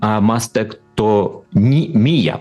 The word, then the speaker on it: мастектомія: А термін а мастектомія, правильно я вимовляю?